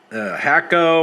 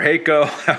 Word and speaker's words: Hakko: the other day um hakko or hako our friends pronounced uh fr301 um see